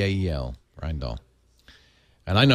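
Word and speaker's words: Rijndael: R I J N D A Lel Rend Doll. And I know how to pronounce it only because of one thing.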